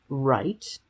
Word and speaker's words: write: She knows that there is a silent letter in front of the R, which doesn't do anything but likes to be there.